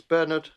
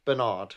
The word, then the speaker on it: Bernard: 1977 to 1993 but Americans say the word Bernard wrong it's Bernard not Bernard that's right oh Berard